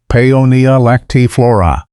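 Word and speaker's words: Paeonia lactiflora: Pony peyonia lactolla pronounced peyonia lactif flora.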